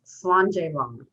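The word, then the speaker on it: Slàinte: scottish host that means to your health it's pronounced slander so with me on the count of three let's toast each other slander and with that i hand it over to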